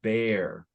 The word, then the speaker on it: bare: And so remember there's that silent E, and then the A, the vowel before the silent E is more open. So bear.